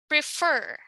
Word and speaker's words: prefer: For example, in the word prefer, the stress is on the second syllable because this is a verb, wherein if it's a noun, commonly this stress should be on the first syllable.